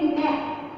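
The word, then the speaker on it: knack: के साइलेंट है इसमें, हम इसको बोलेंगे नेक.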